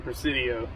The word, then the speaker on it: Presidio: How do you pronounce that? It's definitely Presidio.